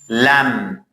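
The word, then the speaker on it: lamb: For example, kum, lam, tham.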